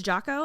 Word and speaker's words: Jocko: It's Jocko, and then it's another Leaf Bab.